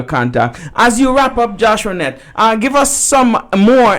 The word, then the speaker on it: Joshuanette: on youtube it is joshuanet's world and on snapchat on twitter it is joshuanet so my name is spelt j-o-s-h-u-a-n-e-t-t-e my parents wanted a boy but i'm a girl so i'm joshua net and i will be